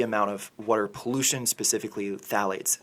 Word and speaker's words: phthalates: was a heavy amount of water pollution specifically phthalates phthalates it's spelled p-h-t-h-a-l-a-t-e-s and phthalates are gender bender chemicals